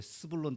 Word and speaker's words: 스불론: 자, 발음을 조심하셔야 돼. 스불론 땅과 납달리 땅.